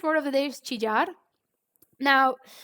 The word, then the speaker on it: chillar: of the day is chijar now in colombia we pronounce the double l differently so like if you were from another spanish beacon country it might sound chillar but i would say